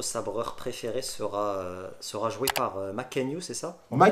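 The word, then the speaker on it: Mackenyu: Roronoa Zoro, notre sabreur préféré, sera joué par Makenyu, c'est ça? On Ma prononce bien.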